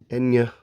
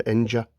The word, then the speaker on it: Enja: Enya, I believe that's how you pronounce Enya, probably with a y, not a j, Enja.